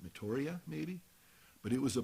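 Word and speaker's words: Meteora: pronounce this incorrectly but just think of meteor with an a at the end of metoria maybe but it was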